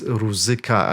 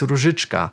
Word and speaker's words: Różyczka: Czech train station, Różyczka, and they have been mispronounced as Ruzyka, and I just found it disgusting. They knew exactly how to pronounce it. It was in the game, in the announcements, but the actors were saying Ruzyka. Why would you mispronounce something when you say it's Różyczka?